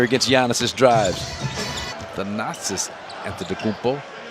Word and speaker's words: Antetokounmpo: The Nazis Antetokounmpo. I'm pronouncing it like visiting announcers, Antetokounmpo.